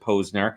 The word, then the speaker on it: Posner: we went on the air like it's we pronounce it Posner and I have to correct people a lot